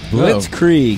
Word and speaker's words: blitzkrieg: the week is blitzkrieg blitzkrieg yeah only two syllables blitzkrieg we scream well